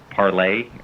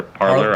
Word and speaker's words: Parler: on that new platform parlay or parlor i've heard people pronounce it differently it's i think it's a it's a french word so it's like pronounced parlez but it's uh it's